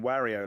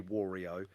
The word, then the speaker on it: Wario: game created in japan you pronounce it how the japanese would pronounce it so his name is not wario and it never will be wario because that's not how japanese people would say so his name is